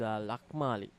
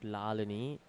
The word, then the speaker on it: Lali: and uh I think the official has got the name wrong of the bowler this is Lali who bowling not Lani ah that goes off